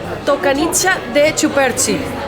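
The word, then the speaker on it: tocăniță de ciuperci: Se llama Tocanicha de Chuperchi. Así se pronuncia en romano.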